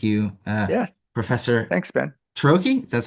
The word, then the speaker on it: Ciarrochi: Troche.